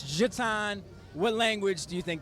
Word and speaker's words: Jutaun: It's pronounced Jatan.